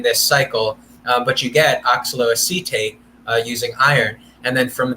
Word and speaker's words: oxaloacetate: Like at this point, when you produce citrate, it splits into these two molecules, acetate and how do you pronounce it? Oxaloacetate.